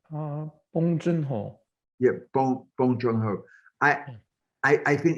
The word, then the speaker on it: Bong Joon-ho: is a writer in the same way as Boon Joon-ho is that, did I pronounce it in the right way? Did I? Bong Joon-ho.